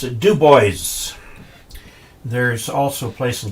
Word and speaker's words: Dubois: Like, for example, there's a place in Wyoming, Dubois, which normally would be Dubois, but they pronounce it Dubois.